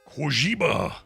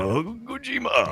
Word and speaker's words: Kojima: Kojima is how you say it. Kojima.